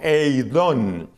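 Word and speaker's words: εἶδον: El siguiente verbo que tengo aquí anotado es uno que se pronuncia más o menos como eidón.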